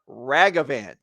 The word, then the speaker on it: Ragavan: paper towels Rags so the word rag you are able to pronounce that word now you imagine these rags and then just extend the word out ragavan there's no wrong of it it's not named it's not pronounced in lieu of your name it's a ragavan people have been claiming